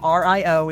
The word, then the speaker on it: Rio: So Rio, R I O is pronounced like the bread.